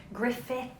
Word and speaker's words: Griffith: Griffith. Come on. Yeah. Griffith. Griffith. It's the Yeah, it's spelled Gruffford, but it's the Welsh spelling.